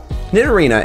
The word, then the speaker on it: Nidorina: out to be true nidorina and nidorino's names are nearly identical with the only difference being the feminine a sound at the end of nine arena and the masculine o sound at the end of nidorino because they resemble rhinos